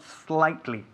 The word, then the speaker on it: slightly: La S, tenemos que enfatizar la S.